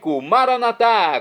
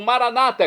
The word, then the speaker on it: Maranata: e agora eu clamo doar maranat como dizemos nós católicos ou Maranata como dizem nossos irmãos separados os evangélicos ou protestantes não importa pronúncia o significado é o